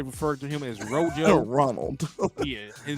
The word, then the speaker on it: Ronald: He put every syllable in there. Ronald. You don't pronounce the L and the D on no other word at the end. Like that boy said Ronald.